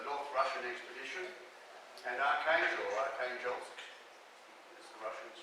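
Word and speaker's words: Arkhangelsk: where there was a North Russian expedition, and Archangelsk, as the Russians pronounce it.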